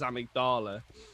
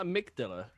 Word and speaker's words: amygdala: was he he said you sure that's the way you pronounce it it's like and then and i think we were just like yeah yeah i think believe so sure it's not a mig dilla you're like um i